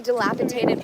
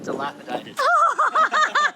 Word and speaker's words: dilapidated: But it's next to like a completely dilapitated blown out like dilapitated. What a word. See guys, my friend is so smart and beautiful. Mispronounced it. Dilapidated.